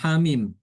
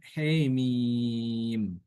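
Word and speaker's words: حم: tujuh itu ya kata ha mim ya jadi dibacanya he mim ha mim itu bacaan imalah.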